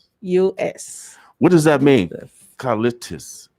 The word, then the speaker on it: Callistus: what does that mean carlitos carlitos am i twisting it up no you're saying it right right yes okay so